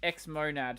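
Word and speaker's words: xmonad: True, but X-monad is pronounced X-monad, so that's why.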